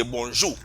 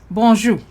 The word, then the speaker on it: bonjour: So they say good morning or hello, you say bonjour. Bonjour. Yes, and notice again that French R is not there anymore.